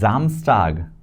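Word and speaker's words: Samstag: If S and wobble is there, we pronounce it as Z, not S. And that is Zamstag.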